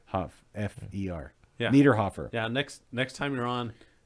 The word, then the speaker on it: Niederhofer: Niederhofer, spelled N-I-E. It's spelled correctly on screen.